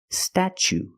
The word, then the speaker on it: statue: second or third syllable the t is pronounced chch like chicken and change chch so pronation statue statue for the first vow we use the short a like black cat sta then we use the CH sound stat statue for the second syllable we use the long u like Boot and moon ooh together statue this is the Statue